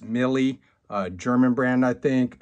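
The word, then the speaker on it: Miele: I went with, I believe it's called, pronounced Millie, a German brand, I think.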